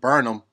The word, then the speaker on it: Burnham: you know i'm saying that's how somebody told me to pronounce it burn them you feel me y'all confirm if that's correct ball burnham can't handle